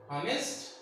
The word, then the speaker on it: honest: These are all the example started from the consonant letter, but the sound is vowel. The sound is vowel because first letter is silent when we are pronouncing.